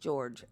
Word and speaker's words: Jorge: His name is spelled Jorge, but it is pronounced George.